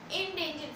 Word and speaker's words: endangered: इस ई को आई की तरह लीजिए अपने दिमाग में, इंडेंजर्ड स्पीशीज।